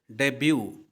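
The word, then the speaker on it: debut: टी लिखा गया है अब ऐसे देखने में तो लग रहा है कि डी बट लिखा हुआ है लेकिन बिल्कुल गलत है यह यहां पर टी साइलेंट है और हम लोग इसको बोलेंगे डेब्यू तो यह उच्चारण के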